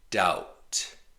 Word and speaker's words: doubt: There's other examples where the B by itself is silent, but it's not common. It's rare. Debt. There's no B sound. The B is silent. Debt. Doubt. Subtle.